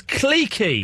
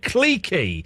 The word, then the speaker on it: cliquey: We are not American. We pronounce the word cliquey. Cliquey. CLIQU. Then maybe there's an E and there might be a Y. I'm not sure. It's pronounced cliquey. There were cliques of people. There were not cliques. It was not cliquey.